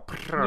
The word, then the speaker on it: Pittard: Yeah, it's Pittard. It's technically like French origin. So if you really want to go fancy, then you can put a bit of a French accent on it, but it's fine.